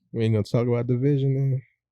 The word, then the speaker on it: DVSN: First of all, shouts to you for telling me how to pronounce that because I definitely was just saying DVSN.